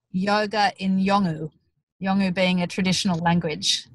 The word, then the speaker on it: Yolngu: And it's going to be called How Do You Say Yoga in Yolngu?